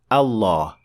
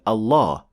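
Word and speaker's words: الله: the most honored word Allah when starting at the word Allah Lam will be pronounced slightly differently from all other words in Arabic specifically it will be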